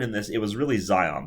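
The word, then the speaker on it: Zajonc: Even though he was important in this, it was really Zion. This guy's name is pronounced Zion.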